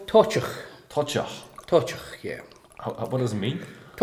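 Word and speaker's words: Toiteach: How did you pronounce it? This is called Tochach.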